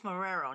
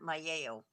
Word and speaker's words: Marrero: It's Marrero, not Mayeo.